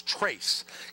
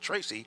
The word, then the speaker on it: Trace: number 29 his uh first name is Trace even though it's spelled with an e on the end we had previously called it Tracy but it is actually Trace uh is the driver